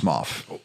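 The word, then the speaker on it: Smough: It's pronounced Smoff.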